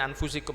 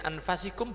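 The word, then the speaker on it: أنفسكم: Makanya diingatkan, laqad ja'akum rasulun min anfusikum, boleh min anfasikum boleh dibaca, tapi tidak usah gaya ya. Kalau kita bacanya min anfusikum aja, tapi kalau mau dibaca min anfasikum boleh.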